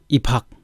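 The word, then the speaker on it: 입학: अब त्यस्तै हेरौँ, इफाक, इफाक भनेको प्रवेश अथवा भर्ना गर्नु, प्रवेश भर्ना भन्ने बुझिन्छ यसलाई। अब यसमा इफाकमा चाहिँ ब पछाडि उतापट्टि ह आएको छ, त्यसैले यसको उच्चारण फ हुन्छ।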